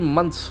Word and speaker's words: month: Okay, a 3 months high. Month, the word is very interesting. Month, can see that word th sound. month, Months, can see it ends with releasing an air sound like a month.